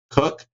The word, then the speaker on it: Koch: His name is Max Cook. Cook is spelled Koch.